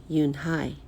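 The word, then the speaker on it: Unhei: Kim then turned to Joey she nodded slowly yes it's pronounced Eun Hye and it means grace mr. Kim added Eun Hye Joey said slowly and this time perfectly it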